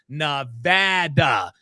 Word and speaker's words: Nevada: there uh real quick just to be Petty sad PO says it's pronounced nvada sorry D oh no my friend I will bet you a million dollars that it is absolutely positively pronounced naada short a there are bumper there are bumper stickers out here that people have in their car say it's not Nevada like you said Sad